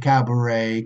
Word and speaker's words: cabaret: remember about bouquet bday cabaret cash a groom a rakish a valet and baby you okay not not pronouncing with the T okay so this is